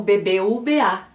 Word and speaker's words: BBVA: Então, o nome do banco é pronunciado como BBVA.